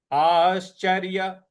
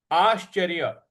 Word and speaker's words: आश्चर्य: आश्चर्य, आश्चर्य, आ के बाद जो श है उस पर हमको आघात देना है।